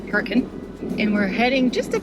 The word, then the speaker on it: Hurricane: Yes, they pronounce it Hurricane.